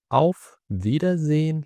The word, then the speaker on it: Auf Wiedersehen: Auf Wiedersehen لو أنت خدت بالك هتلاقي إن الحرف ال W أو ال V في الألماني بيتنطق V زي ال V اللي في الإنجليزي.